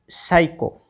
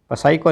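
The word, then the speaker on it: psycho: श और मैं शाम पी एस वाई सी एच ओ साइको। ठीक है? क्योंकि पी साइलेंट है। पसाइको नहीं पढ़ना है इसको।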